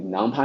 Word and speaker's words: NumPy: And then first for numpy, as I said, this is num is for numeric and pi is for python.